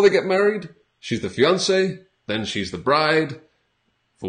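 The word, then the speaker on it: fiancé: are a fiance and the pronunciation spelling is a little bit different for men and women but the pronunciation is the same so fiance from French we still a lot of French words in English so fiance and then on the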